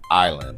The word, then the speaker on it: island: Number six, island. Literally, bro, this word was a layup. It island. They ass like, "Nope, that ain't that ain't complicated enough. Add a random S in there."